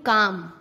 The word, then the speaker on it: calm: एम से पहले CALM काम, बाम, पाम। एल साइलेंट होता है, क्लाम नहीं, काम, बाम, पाम।